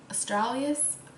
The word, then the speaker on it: Australis: it's beacon friendly um I do like Australis I think that's how you say it some people say like Australia's people have like different ways of saying it but I say Australis alright let's say it